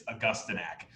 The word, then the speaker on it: Augustinak: it's totally fine because a million people misspell and mispronounce my name it's augustinak and it's been happening